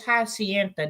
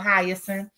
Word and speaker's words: Hyacinth: Y'all, I used to call this Hacienda. Now, where the heck I got that from? I guess because I was looking at the TH that's at the end of this word. But it's spelled Hyacinth. So that's why I was calling it Hacienda, y'all. I had made this my own name, okay? But it is called Hyacinth.